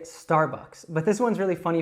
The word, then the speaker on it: Starbucks: Now, as I mentioned, I would say this Starbucks, but let's take a look at how Andrew would say it in her British accent.